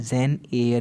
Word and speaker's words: Jane Eyre: कितने बच्चे एरे पढ़ते हैं, ईयर पढ़ते हैं, बिल्कुल गलत है। जेन एयर पढ़िएगा आप, ठीक है।